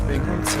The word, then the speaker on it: Binghamton: It's Binghamton, and I really give a fuck about how my shit is done.